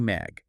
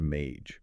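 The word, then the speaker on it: MAIG: Do not say match. Definitely not match. That sounds like a receptionist at a dentist's office. Right. The guide says it is pronounced mage. It rhymes with page or cage.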